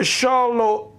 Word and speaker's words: Charlotte: The Shalowat, if I'm pronouncing it correctly, it's spelled C-H-A-R-L-O-T-T-E. I guess that's the Shalowat or Charlotte, owned by Moses and Sam Levy and Jacob Franks.